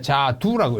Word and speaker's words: 자두: 호도가 아니고 호두라고 읽고 앵도인데 앵두라고 읽고 자도인데 자두라고 읽습니다.